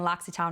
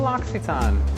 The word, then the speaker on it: L'Occitane: People tell me I'm saying L'Occitane wrong. I'll put a link to the L'Occitane pronunciation so you can hear the owner saying it, just so you know I'm saying it correctly.